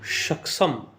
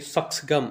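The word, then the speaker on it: Shaksgam: इन्होंने बताया है कि ये अल्टर फैक्ट्स है के ग्राउंड पे, और ये जो सक्षम, एक्चुअली सक्सगम इसका सही प्रोनाउंसिएशन होगा, इस घाटी में जो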